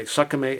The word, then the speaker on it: SKMEI: It's made by Sakame s k m e i.